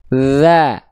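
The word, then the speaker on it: ذ: Tapi sentuhkan tipis-tipis ujung lidah kita ke ujung gigi sari atas kita.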